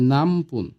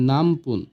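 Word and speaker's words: なんぷん: এবার আসি, প্রশ্ন যদি করি কয় মিনিট বা কত মিনিট, তাহলে হবে নামপুন। লেখার ক্ষেত্রে হবে নান পুন, কিন্তু এটার হবে উচ্চারণ হবে নামপুন।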